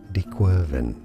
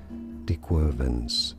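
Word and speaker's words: De Quervain: it is said as dequen it is often pronounced as dequen tenosinovitis theen tenosinovitis now this is a French name and in French it's not said like this at all but so you could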